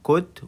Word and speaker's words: could: هجيب السبجكت الفاعل ورا منه could، وخلي بالك could ال silent لا تنطق، وهجيب الفعل في المصدر.